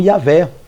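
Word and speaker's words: Yahweh: se apresentando aí e o cita como yavé nãoé como muitos dizem yé Javé Jeová Jeová não importante aqui não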